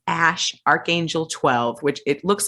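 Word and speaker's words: Æ: she says grime says is the elven spelling of a i which is like intelligence or ai and it's pronounced ash and then archangel 12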